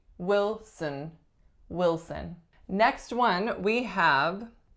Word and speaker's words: Wilson: we have Wilson Wilson strongest syllable is which syllable number one and it's a lacks a vowel the second syllable just like Johnson reduces to schwa so we do not say will son we say Wilson Wilson next one we